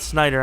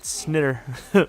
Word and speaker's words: Snider: It's not Snyder, I don't think. That's usually when it's Snyder, it's spelled the prototypical SCH. I'm not going to give him the benefit of the doubt. It's Snider. Snider. There's no 2 D's, but it's Snider.